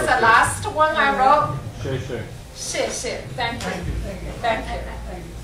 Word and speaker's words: 谢谢: 谢谢. Thank you. Thank you. So you pronounce it like S-H? Yeah. So the XIE is like SH in an English.